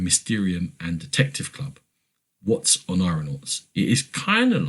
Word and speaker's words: Oneironauts: Oneironauts? It's Oneironauts.